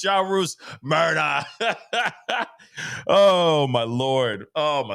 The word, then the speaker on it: Murdaugh: much for the five he pronounced it like murder when he identified himself see that's what I'm saying so it's murder but everyone's sitting there Murdoch okay everyone's sitting there going Murdoch and I don't know why